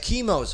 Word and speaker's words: Kimo: It means both Timothy and James, depending on how you pronounce it, either Kimu or Kimo.